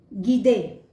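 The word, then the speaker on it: guide: गीदे।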